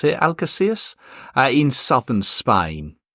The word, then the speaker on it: Algeciras: Now, both games will be played in, you're going to have to excuse my pronunciation here, Algeciras. I think that's how you pronounce it, Algeciras, in southern Spain.